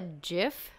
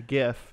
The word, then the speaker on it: GIF: to the show and which I call a jiff yeah sure I mean we all like peanut